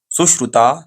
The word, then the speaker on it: सुश्रुत: आप सुस श्रुता surgery सुश्रुता surgery अब सु मैं ऐसा प्रोनाउंस ऐसा कर रहा हूं कि आप लोगों को समझ में आना अच्छी तरीके से सुश्रुता सर्जरी बोलिए।